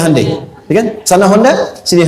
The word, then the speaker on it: Hyundai: Kita bisa kita dari TK sehingga ketika di sana bikin Honda sini Hande Hyundai kan dibacanya Handai ya kan sana Honda